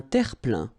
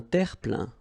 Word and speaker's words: terre-plein: Un terre-plein. Un terre-plein. Remember this E-I-N nasal. So it goes in your nose and it's un plein, plein. Un terre-plein.